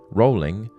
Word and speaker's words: Rowling: Rowling, the first syllable of which is pronounced row, as in boat, rather than row, as in argument, lent itself to woeful jokes such as rolling stone, rolling pin, and so on.